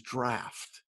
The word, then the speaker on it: Draught: DRA u g HT which obviously is draft it's draft that's it's obvious to